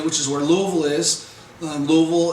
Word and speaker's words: Louisville: Louisville is how you pronounce Louisville or Louisville or however other people pronounce it. In Kentucky, it's Louisville. So hopefully everybody will say if I said that right, Louisville.